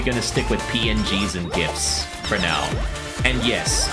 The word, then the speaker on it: GIF: for now and yes I pronounce it as GIF okay I don't care if the original maker calls it gif the only thing you're supposed to pronounce as Jif is the peanut butter oh my goodness